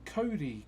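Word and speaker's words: kauri: So uh yeah, this one's made out of Cody.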